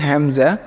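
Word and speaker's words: همزة: এক নম্বর বলতেছে দুটি হরফ আলিফ এবং হামজা টান হবে না।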